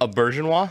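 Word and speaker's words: Auberjonois: did we how did we settle on that pronunciation a bergenwa a bergenwa there we go yeah yeah yeah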